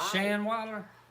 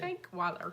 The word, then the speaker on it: Shankweiler: Shanweiler? Is that what you said? Shankweiler. Shank. I'm gonna leave it alone.